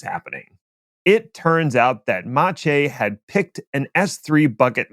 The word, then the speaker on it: Maciej: Yeah, but I actually looked up how to pronounce that, and it's Maciej.